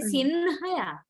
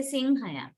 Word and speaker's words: සිංහයා: But how do we pronounce it? Do we say Sinhaya? No, we say Singhaya. Singhaya. Nga. So that nga sound comes in the middle of the word.